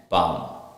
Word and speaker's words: palm: The letter L is usually not pronounced after the vowels. For example, A, O and U. Example, calf, half and palm.